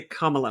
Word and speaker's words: Kamala: like comma comma kalaa everyone's going to have to learn how to say comma now including comma including Kamala who pronounce a CALA